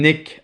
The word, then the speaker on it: nid: Mais ça s'appelle NID, un nid. So, a nest for fighting. OK, a nest for fighting. Un nid à bataille becomes, in the old expression, un nick à bataille.